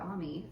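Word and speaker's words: Aimee: song of style which is amy's song or ami oh i think yeah her name is pronounced ami oh my goodness umi songs collection um it's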